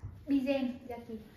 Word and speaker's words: Bizen yaki: Và cuối cùng chúng ta sẽ có là bizen yaki. Bizen yaki. Bizen yaki. À, đó là một số cách phát âm chính xác của người Nhật khi mà